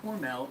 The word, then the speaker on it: Hormel: A can and he of said that it was pre-2009 hormel, as it spent. rhymes with normal.